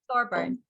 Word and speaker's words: Thorburn: I think even Jack Thorburn, is that how you pronounce his name? Thorburn. That's it.